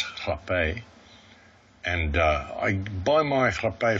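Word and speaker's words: rapé: It's spelled rape, but it's actually pronounced hape.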